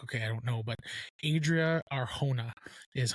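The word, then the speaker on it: Adria Arjona: But Adria Arona is how you pronounce it.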